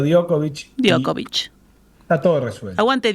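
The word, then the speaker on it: Djokovic: tipo de apellidos eh la J se pronuncia como una i. I ahí está. Perfecto. Y ahí solucionamos mucha cosa. Yo antes le decía Jokovic y ahora le digo Diokovic.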